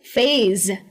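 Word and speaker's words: phase: तो एस है तो फेस क्यों नहीं, फेस कहोगे तो ये तो चेहरा हो जाएगा ना, इसलिए इसे कहेंगे फेज। तो ये जो एस है ना, इसको ज की तरह प्रोनाउंस किया जाता है।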